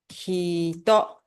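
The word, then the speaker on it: 人: Eh, só que quando tá sozinho esse candí a leitura muda, tá? A leitura vira, deixa eu ver aqui. Quando esse candi de pessoa tá sozinho, a leitura é hitó.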